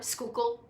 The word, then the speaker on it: Schuylkill: So, like around here, we've got the Schuylkill River, Schuylkill. You don't even want to know how that is written.